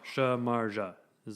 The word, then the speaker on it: Samardzija: Jeff Samardzija. Oh, Samardzija? Yeah. Oh, yeah. Samardzija is the pronunciation it says.